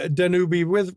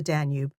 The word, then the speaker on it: Danube: than go down the Danubi River, they went all the way up the Miraul River. Okay, I have to correct you. It is not the Danube. It is the Danube.